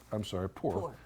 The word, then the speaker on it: Puhr: Puhr. From when I said, how do you pronounce it? He said, just like you don't have any money.